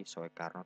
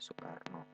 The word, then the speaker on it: Soekarno: ejaan Suwandi ini, seperti huruf OE yang diganti dengan pelafalannya U, jadi tidak lagi Soekarno tapi Soekarno.